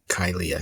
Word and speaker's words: Kyliah: you say your first name how do you pronounce it so it's kyia kylia kylia excellent excellent excellent and you when I